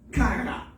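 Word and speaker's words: χαρά: Le mot joie vient du grec kara. Kara qui s'écrit C-H-A-R-A.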